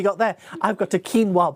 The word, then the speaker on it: quinoa: there I've got a quinoa bowl or quoa if you say it properly um but he's spending